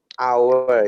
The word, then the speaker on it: hour: yeah once again uh hour you know how are you so the silent h right yes so our so uh